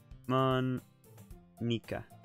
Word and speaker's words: Monika: I hear most people say it as Monika.